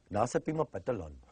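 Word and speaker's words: Nahasapeemapetilon: Nasapima Patalon. I don't see why people have such a hard time. Just pronounce it's spelled like it sounds. Sounds like it's spelled.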